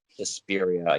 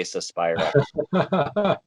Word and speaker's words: Suspiria: Suspiria. Yeah, I always say. Yeah, I've heard it. I've heard it both, but yeah, over this way we say Suspira.